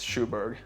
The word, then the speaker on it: Sjoberg: some along those lines the correct English pronunciation is Sho Berg Sho like the shoe Berg easy I wouldn't have